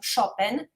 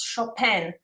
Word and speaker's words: Chopin: pronunciated his his surname chopin while international it's chopin so it's more more like french accent because he spent most of his life in france um so friedrich chopin